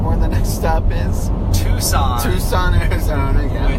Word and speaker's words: Tucson: Tucson, Arizona, yeah. Which is spelled the opposite of the way you would expect.